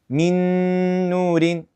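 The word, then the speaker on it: مِن نُورٍ: In the Quran it's pronounced min nurin. Mm. Mm. That's nasal sound. Actually, if you try to cover, right? Your nose cuz right cuz that's where it comes from, the nasal sound.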